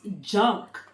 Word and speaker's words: JNCK: They're actually pronounced junk.